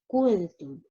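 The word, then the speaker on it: كنتم: wow after kaf, and there is no wow after kaf. Okay, its pronunciation or correct pronunciation, it will be kuntum, kuntum, kaf dhamma, it will be ku.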